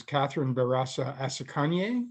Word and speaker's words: Catherine Barasa Asekenye: And so he connected me with its president, and her name is Catherine Barasa Asekenye. Have I pronounced that right?